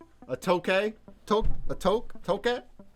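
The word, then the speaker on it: toque: tokay took a toke toke how do you say that it's like torque without the r toke that's what they're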